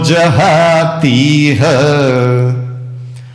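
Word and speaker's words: जहातीह: बुद्धि युक्त बुद्धि युक्तो जहां तीह ती की मात्रा बड़ी वाली दीर्घ है। बुद्धि युक्तो जहां तीह उच्चारण करते हैं। बुद्धि युक्तो जतीह बुद्धि युक्तो जती फिर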